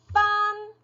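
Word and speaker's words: 分: 네, 그리고 소수점 두 번째 자리는 fun.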